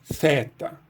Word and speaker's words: theta: É possível também no grego antigo pronunciar esse teta como theta. Alguns professores preferem pronunciar assim, e essa era tradicionalmente a pronúncia erasmiana também.